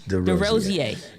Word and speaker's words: DeRosier: It's DeRosier. Yes. All right. Well, Twitch hires Facebook executive DeRosier in the senior role supporting unrepresented creators.